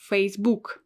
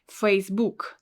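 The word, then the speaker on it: Фейсбук: it is facebook facebook well in russian we will read it as facebook facebook with a stress in the end facebook let's go on this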